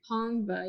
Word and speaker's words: Tongva: That is the first time I'm hearing about the Tongba, Tongva. Tongba, right? Tongva, yeah. Okay, I think I'm Yeah, pronouncing it right.